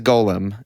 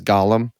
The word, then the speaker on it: Golem: just golum Golem gol the correct pronunciation is Golem for that word but Taylor misinterprets it as Gollum which I just love